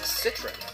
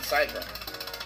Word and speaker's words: Citron: Also, I think I now know my new pronunciation of my name. It's Citron, not Zytron.